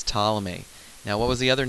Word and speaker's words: Ptolemy: but before Copernicus was Ptolemy Ptolemy is that name with a pig in front of it that you don't pronounce now Ptolemy came along